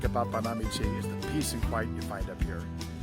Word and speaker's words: Banamichi: the word looks like bonamichi and that's how a lot of people pronounce it but it actually is Accent on the second syllable one thing I really like about panamichi is the peace and